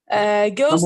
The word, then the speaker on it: ghost: Ghost Number the one. H. Number one, ghost, the H is silent.